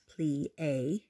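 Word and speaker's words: plié: class watch and learn we plie you say it like this plea you say it like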